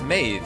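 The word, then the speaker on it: Medb: Or maybe it's Maeve, as in Queen Maeve, which has a B that's pronounced as a V.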